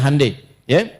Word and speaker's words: Hyundai: Jadi Jepang misalnya bikin Honda, dia bikin Hai ya. Ya, Hyundai saya tahu bahasanya dibacanya Hai ya.